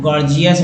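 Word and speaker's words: gorgeous: गॉर्जियस में देखिए गॉर्जियस में जो है पहला जी ग, दूसरा जी ज का उच्चारण हुआ।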